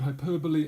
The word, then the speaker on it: hyperbole: Okay, that's how to pronounce the word hyperbole, and there are some examples of using it